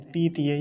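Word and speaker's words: पीतये: बोलेंगे ये बोलेंगे तो सही उच्चारण क्या होगा पी तय पी तय और प पर बड़ी ई की मात्रा है लंबा ही बोलेंगे उसे पी तय ऐसा ठीक है अगला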